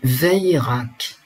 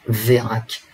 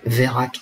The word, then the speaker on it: Vérac: Alors, dans le Périgord, nous, on dit Veirac. Justine Veirac. Voilà. Ça se prononce comme ça là-bas. Mais en Île-de-France et partout en France, on va dire Vérac. Justine Vérac.